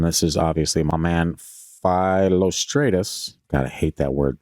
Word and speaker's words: Philostratus: flavia's accounts and this is obviously my man philostratus God I hate that word so much cuz I just want to say lrus but that's not how it's pronounced it's like philostratus flavus philostratus a Greek writer of the 3r century ad